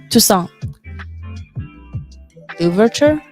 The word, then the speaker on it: Toussaint Louverture: How are we pronouncing this? Toussaint. Louverture?